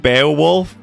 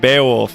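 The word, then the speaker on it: Beoulve: Jolie like corrected me on my pronunciation of Beaolf, like Ramsa's last name. I used to say it like Beaowolf, you know, and now we actually meant Beaolf.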